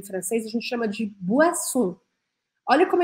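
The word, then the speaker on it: boisson: olha como é engraçado se escreve com oi né bo mas a gente fala a por qu porque em francês o com i a gente sempre vai pronunciar o a bo bo bebidas no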